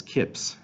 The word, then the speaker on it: kpsi: kpsi or mpsi sometimes those are pronounced as Kips actually um and that's like